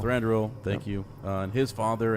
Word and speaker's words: Thranduil: Thranduil. Thranduil.